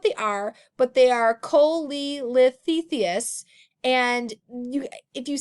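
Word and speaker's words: cholelithiasis: is exactly what they are but they are Kohli lifts Theseus and you if you say either people will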